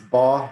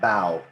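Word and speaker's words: Baugh: a few different ways it's ball just like jaw or paw or claw they're like BMW it's not bow Oh doc ball doc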